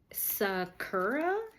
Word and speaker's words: sakura: Pronunciation. I'm sorry, guys. Sakura?